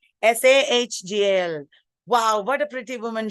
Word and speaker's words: Sahgal: Her name, it should be spelled with Sahgal. Sahgal.